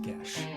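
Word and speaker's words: geis: I have been assured that the pronunciation is gesh.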